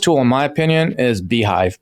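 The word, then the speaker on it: beehiiv: Then I go out and go to people like you, and on Beehive you can promote me.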